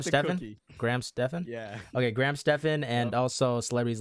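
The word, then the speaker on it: Graham Stephan: it and also celebrities no how do you pronounce his name Graham Stephen Graham Stefan yeah okay Graham Stefan and also celebrities like um Tom Brady so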